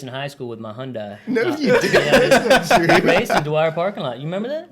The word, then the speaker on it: Hyundai: shitty Hyundai and uh Hyundai like a Hyundai or Honda Hyundai okay yeah I think that's how you pronounce it yeah Sunday lunch yeah yeah yeah that's